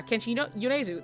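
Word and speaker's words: Kenshi Yonezu: Kenchi Yunesu that I did say it right and then I was like why did I I had a a second of self-doubt. Anyway, Kenshi Yuneu is a very popular artist right now.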